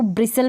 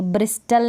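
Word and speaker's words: bristle: पढेंगे बस करने पढेंगे इसको ब्रिसल पढेंगे ब्रिस्टल नहीं पड़ेगी दरअसल पढेंगे अब इसको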